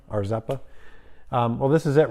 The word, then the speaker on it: Rzeppa: See, I said it right this time, Arzeppa.